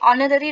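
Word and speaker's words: honour: हैं उन्हें वहां पे ऑनर डॉक्टरेट अभी देखिए आप बोलोगे यहां पे एच आया है तो यहां पे एच हमेशा साइलेंट रहता है सो you have to pronounce it that ऑनर ऑनर doctorate यानी कि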